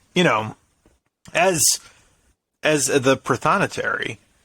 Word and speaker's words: prothonotary: know as as the prothonotary did i mess it up no you said it right very proud okay as a protonatory